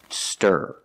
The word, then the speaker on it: stir: IR sound like Burger it's it's a Clos sound and you make a voice in the back here low in a low position Burger stir stir not steer example he needs to